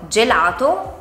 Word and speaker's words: gelato: Se la H non ci fosse, la G andrebbe pronunciata con un suono dolce, seguita dalle vocali E oppure I. Per esempio, gelato o giro.